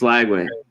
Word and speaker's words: Lagway: yeah is out it's lagway sitation yeah DJ lagway kept calling him langway the first time I said his name everybody's like that's not the way you say it like whoops third and